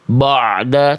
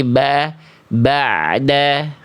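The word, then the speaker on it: بَعْدَ: Nah, jadi dibacanya jangan begini. Jangan ba'da. Dibuka rongga mulutnya. Simpelnya coba kasih agak senyum sedikit, jangan ba'da tapi ba'da. Coba Bunda baca sekali lagi yang warna kuning ini. Ba'da.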